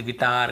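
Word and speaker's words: guitar: ई आई ओ यू के पहले यदि आपको यू मिलता है तो फिर हमें उसे नहीं पढ़ना है ऐसे पढ़ना है गाइल guild गिल्ट गिटार गार्ड biscuit अब यू के बाद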